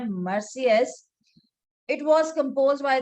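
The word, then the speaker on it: Marseillaise: एक था मर्सियस, जिसे हम प्रोनाउंस करते हैं मर्सियस।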